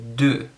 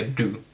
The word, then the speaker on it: du: Sorry, du, not du. Du is a bathroom, so don't say du. It's du. So anyways, I'll get scolded on that, I know. Anyways, vad heter du?